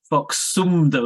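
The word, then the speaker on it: Phoksundo: right there that's actually Lake Fox sundo um so that's uh box soon though is actually probably the better pronunciation some meaning in in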